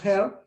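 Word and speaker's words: Hare: el doctor ares s se escribe con h se pronuncia here el doctor heart hablaba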